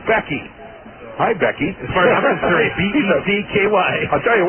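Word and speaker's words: Gbeke: Becky that's right his his name is spelled g-b-e-k-e and it's pronounced Becky hi Becky I'll tell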